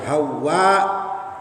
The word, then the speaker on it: Hawa: Cara bacanya dibaca pakai mad panjang. Hawa.